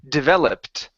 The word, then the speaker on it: developed: try that last word give me a t- sound at the very end developed okay very good let's